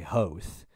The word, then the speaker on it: Hoth: Hoth, or I mean, technically you could say Hoth, which is how George Lucas pronounces it.